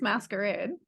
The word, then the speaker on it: Maskerade: masquerade by Terry pratchet which am I saying the title right it is masquerade it is he spelled